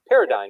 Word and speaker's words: paradigm: it's spelled it's one of those weird words with the G silent, so Yep.